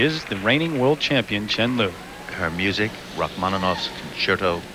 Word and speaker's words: Chen Lu: And while it is acceptable to call her Lu Chen here in the west, actually in China, the correct way to say it is Chenlu.